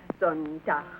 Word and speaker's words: Sonntag: That is good, but pronounce the words broader, so Sonntag, Montag, Dienstag, yes?